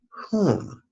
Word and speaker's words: Hum: Our third exercise on page 16, we play with the syllable HUM, whom. Just like the word whom, as in the phrase that a butler might answer when someone knocks upon the door.